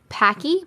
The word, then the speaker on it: poke: It's pronounced Paki. Oh, I don't know. Sorry if I pronounced it wrong.